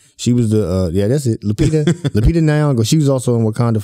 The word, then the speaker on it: Lupita Nyong'o: Lupita Nyong'o.